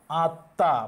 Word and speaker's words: আত্মা: আত্মা, মফলা উঠে গেছে তাই চন্দ্রবিন্দু হবে।